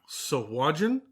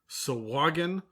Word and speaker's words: Sahuagin: word officially speaking according to actual sources like jeremy crawford and chris perkins and whatnot it's soagin sowagan or sahu again so who again by far sounds the